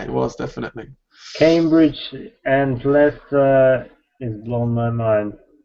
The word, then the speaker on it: Leicester: Cambridge and Leicester is blown my mind. Leicester.